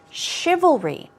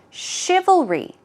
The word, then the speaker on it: chivalry: look at the pronunciation chivalry this part is difficult oh oh and then going on to re all read L REE let's try it three times chivalry chivalry chivalry good job okay